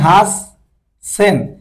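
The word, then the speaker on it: はっせん: হাসসেন, মানে হাস সেন, ছোট ছোট কারণে এই ডাবল এস হয়েছে, মানে একটা বেশি আসছে।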